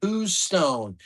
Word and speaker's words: Houston: Houston, pronounced Who's Stone?